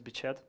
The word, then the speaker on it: Beched: So my nick is Beched. Actually, the proper pronunciation is Beched.